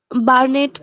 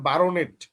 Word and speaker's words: baronet: সেটা হচ্ছে যে আমাদের BARO, যদি আলাদা করে উচ্চারণ করেন তাহলে হবে বারোনেট, BARONET। তো এখানে ওই যে BARO এভাবে আমরা 12 বলি না, মানে ইংলিশ উচ্চারণটা হচ্ছে বার্নেট, কিন্তু স্পেলিংটা হচ্ছে BARONET।